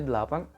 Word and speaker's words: eight: Kemudian untuk angka 8 itu tidak perlu setengah mati, GH tidak dibunyikan. Jadi mudah, langsung saja 8, 8, 8.